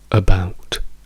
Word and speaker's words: about: Cioè, quando diciamo questa parola noi diciamo about, about dove vediamo che l'accento della parola è sulla seconda sillaba.